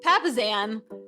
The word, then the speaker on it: Papasan: And we're super excited today because we have our good friend, Jay Papasan. By the way, I totally butcher his name in the interview, but we now know Papasan is the right pronunciation.